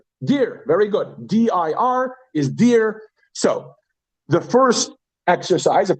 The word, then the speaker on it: dir: D-I-R is dear.